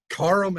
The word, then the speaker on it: Karam: chanting your name but they were saying karam or karum yes no like karum actually that's a name that like strikes heart and the fears of men so pronounce it right come on right it's not that hard it really isn't no so yeah uh